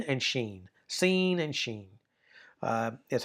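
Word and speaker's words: shin: And then when you have the dot on the right is sheen. Scene and sheen. Senhe and sheen. So there's an added h value to that in terms of pronunciation.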